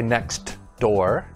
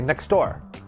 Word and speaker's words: next door: when the sound disappears you see a t or a d in a in a word but we don't pronounce it clearly for example the first one is next door but we don't say next door we say next door